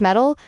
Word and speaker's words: MTIL: MTIL pronounced metal is a layered framework.